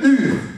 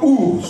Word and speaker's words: Ur: Durant sa jeunesse, cette femme, la femme de Lot, avait grandi dans la ville que l'on appelle Ur, ou plutôt Our, ça dépend des prononciations.